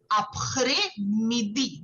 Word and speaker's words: après-midi: Okay, so here the S is silent. So you won't say après, it will be après.